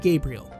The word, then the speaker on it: Gabriel: that's pronounced oh also in regards to pronunciation Gabriel it's actually pronounced Gabriel I summoned her and off-screen battle and that's how they pronounced it well the main character